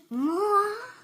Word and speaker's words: moi: Moi. Now, we have a little donut down here. What does that say? Moi, pronounced as moi, is a French word for me.